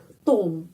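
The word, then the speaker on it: атом: Tes membaca ablini a atom. Atom di sini penekanannya pada huruf O. Jadi O tetap bacanya O.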